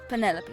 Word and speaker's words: Penelope: Officially, yes, but I never can be bothered with all 4 syllables of it. Penelope sounds a little ostentatious coming out of the mouth, don't you think?